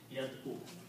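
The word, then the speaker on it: يدعو: Okay, and the way we adjust the sound here is that this becomes yad, first two are yad, and this is pronounced this way, yad u. Okay, the sound of the vowel is pronounced with it on the top of ayn, so yad u.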